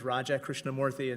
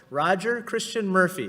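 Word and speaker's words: Raja Krishnamoorthi: myself I said hi my name is Raja Krishnamoorthy and someone said Roger Christiane Murphy very nice to meet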